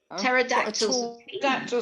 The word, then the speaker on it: pterodactyl: all of us pterodactyl pterodactyl starts with a p oh yes it's a silence oh well that one out it's a silent p um oh nice one